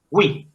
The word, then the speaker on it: oui: Oui, oui, Es como si tuviera oui.